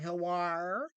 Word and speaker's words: HELWÄR: HELWÄR. Is it Yep. HELWÄR?